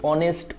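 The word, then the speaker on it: honest: এখানে দেখো এই যে অনেস্টের শব্দের প্রথম অক্ষর অর্থাৎ এই যে এইচ, এটা কিন্তু মূলত একটি কনসোনেন্ট, কিন্তু অনেস্ট উচ্চারণটা মূলত হচ্ছে অ। এই যে অ, এই অটা অনেকটা ভাওয়েল সাউন্ডের মতো, যার কারণে এখানে কি বসছে, তোমার হচ্ছে এন বসছে।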